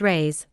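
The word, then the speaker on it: reis: a lady hails from the Portuguese pennies or race pronounced rays are prodigious it takes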